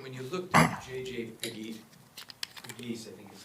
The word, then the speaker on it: Pegues: Pegues, I think is how you There you go. You pronounce got it right.